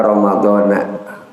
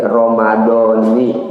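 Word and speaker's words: رمضانِ: Kalau giliran dia jar atau giliran fathah jelas bacanya Ramadana. Tapi kalau kemudian dia dirangkaikan dengan kata lain Ramadhani, makanya pada saat kita niat di bulan Ramadan, nawaitu sama wadin an adai fardhi syahri Ramadhani, bukan Ramadana, Ramadhani, ya, fardhi syahri Ramadhani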